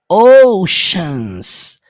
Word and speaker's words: oceans: na pronúncia a palavra Oceans Embora ela seja escrito assim ó Oceans você vai pronunciar como um som de X Oceans deep my face